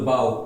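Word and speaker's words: bow: बाऊ मतलब होता है झुकना। है ना? झुकना। किसी के सामने क्या करना? बाऊ। बाऊ। देखिए सेम साउंड साउंड नहीं है। सेम क्या है? स्पेलिंग है। लेकिन प्रोनंसिएशन उसका क्या है? साउंड जो है इसका है अलग-अलग है।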